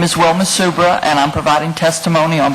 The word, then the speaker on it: Subra: My name is Wilma Subra, and I'm providing testimony on behalf of Super Company, Louisiana Environmental Action Network, and the Lower Mississippi River Keeper.